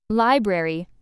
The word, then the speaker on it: library: Library, stress on first syllable, don't miss the r in spelling.